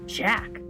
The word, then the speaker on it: Jack: It's not Jake, it's Jack.